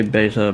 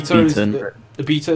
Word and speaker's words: beta: nice also yes kiri i say beta that way yeah because loads of other people say beta but b beta is a uk english pronunciation yes so i will say